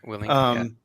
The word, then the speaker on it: Willink: Tim, you got me a book a while back by Jocko Willink. Is that how you pronounce his last name? Yeah, Willink.